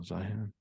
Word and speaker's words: Zeihan: Oh, Zion.